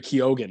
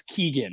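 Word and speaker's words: Keoghan: pure way yeah yeah because I've been corrected before like people are like no it's Keegan and I'm like I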